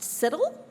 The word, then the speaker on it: CITL: Yes, Cheryl tells me this is pronounced CITL.